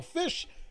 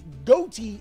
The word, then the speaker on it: Ghoti: guys are probably saying goatee is supposed to be spell fish because that's how it is phonetically but unfortunately could not be fumbled to bag on this and announced that it was goatee and not fish but that's hearing or